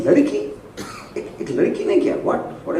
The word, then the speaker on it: Ladki: You know, so in my, it's not like Ladki, it's Ladki. That is how I pronounce it in my mind, and you know, that might not come in the just to see the logo.